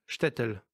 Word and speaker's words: SHTTL: Son titre, Shtetl, qui s'écrit S-H-T-T-L, est une référence à la disparition.